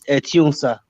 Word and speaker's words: Etiosa: That is the way they normally write it, but our pronunciation is Etiosa.